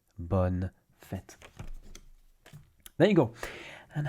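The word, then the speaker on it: bonnes fêtes: BN Fett pronunciation uh don't get fooled there's no nasalized sound the way you do in you have in in bour for example bour here it's B BN fit BN fit there you go and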